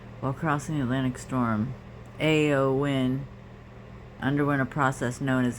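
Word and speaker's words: Éowyn: rain from this is a lot storm Ewan pronounced AO win it's pronounced a AO win oh well thank you has been caused by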